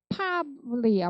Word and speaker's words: probably: probably야, probably. pra는 일단 발음을 할 수도 있을 거예요. ba 발음을 안 하는 거예요. 그래서 probably한테 발을 안 했다. probably 이렇게 하시면 돼요. b 소리는 원래 되게 작아요.